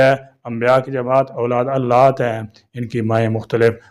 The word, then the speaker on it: علات: جماعت اولاد علات ہیں۔ علات کا صحیح تلفظ عین پر زبر کے ساتھ ہے، جو عربی زبان کا لفظ ہے۔ اس کا معنی مفہوم ان سوتیلے بھائیوں سے ہے۔ انبیاء کی جماعت اولاد علات ہیں، ان کی مائیں